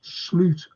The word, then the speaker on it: Slot: he's got to play really yeah ni it's slot it's slot pronounced slute according to franking bites didn't like SL he